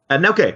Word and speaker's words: Nelke: So I'm really, you guys just announced the new Atelier game, Nelke, which is like, how you pronounce it, Nelke? Nelke, yeah, Nelke Okay.